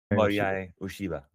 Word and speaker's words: Morihei Ueshiba: Dorian will correct me later if I didn't pronounce that. Morihei. Morihei Morihei Morihei Ueshiba.